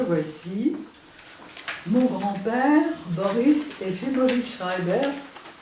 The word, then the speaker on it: Schreiber: mon grand-père Boris eimovich Schreber prononcé à la russe Schreber à la française ma grand-mère Rosa ov